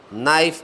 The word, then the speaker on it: knife: जैसे नाइफ, KNIFE नाइफ में है, यदि इसका उच्चारण करें तो नाइफ किया जाता है। यहाँ पर के आपने देखा कि पूर्ण रूप से साइलेंट है, उसका उच्चारण नहीं हो रहा है।